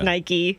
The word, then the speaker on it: Nike: crazy and we even confirmed it with the naik headquarters it is Nike I still said Mike